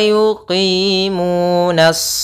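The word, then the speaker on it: يقيمون: Kemudian wa yuqimuna, pada lafal qi itu ada kasrah bertemu ya, yaitu mad tabi'i.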